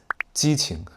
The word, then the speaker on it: 基情: Et c'est 基情. Cela a la même prononciation que 激情, qui signifie "passion".